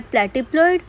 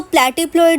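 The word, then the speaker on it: platypelloid: Fourth type of pelvis क्या है, प्लेटिप्लॉइड। प्लेटिप्लॉइड आप कैसे देखो प्रोनाउंस कर रहे हो तो प्लेटिप्लॉइड, ठीक है, प्लेटी, और फ्लैट बोलने में प्लैट, फ्लैट, सेम तरीके से प्रोनाउंस होता है।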